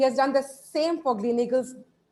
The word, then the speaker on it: Gleneagles: He has done the same for Gleneagles. It's Gleneagles? Is that how we pronounce it?